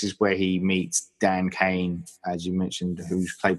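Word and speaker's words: Cain: the university in Arkham and yes it's Dan Kane even though it's spelled differently there's Bob Kane with Batman who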